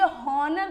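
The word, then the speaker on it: honour: दिखाता है sound waves क्या रहता है हमारा साइलेंट रहता है जैसे इधर देखते हैं एंड ये ऑनर नहीं है ऑनर है क्या हो जाएगा एंड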